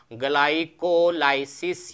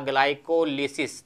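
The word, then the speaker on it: glycolysis: और इस प्रक्रिया का नाम क्या होता है, इसको हम कहेंगे ग्लाइकोलाइसिस या ग्लाइकोलिसिस। दोनों नाम आपको किताबों में मिल जाएगा, क्योंकि इसकी स्पेलिंग इस तरह होती है, ग्लाइको LYSIS, तो कहीं किताबों में मिलेगा नाम ग्लाइकोलाइसिस और कहीं मिलेगा ग्लाइकोलिसिस, उस पर कन्फ्यूजन नहीं होना है।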